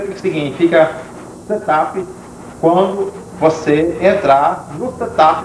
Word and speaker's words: setup: a setop pronuncia-se setup nós teremos aula específica